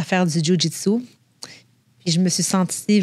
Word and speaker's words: jiu-jitsu: pas c'est quoi premièrement ça se dit jjitsu tu l'as bien prononcé des fois les gens appellent ça shitsu fait que c'est comme c'est comme pas ça oui comme le chien non c'est pas ça dans le fond c'est